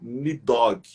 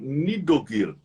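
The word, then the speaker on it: Níðhöggr: nome é, em português, as pessoas falam Nidhogg, mas é um termo aportuguesado. Puxando um pouco mais para a pronúncia original, nós temos a expressão Nidogir.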